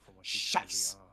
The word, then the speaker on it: Scheiß: Can you say scheiß? It rhymes with ice.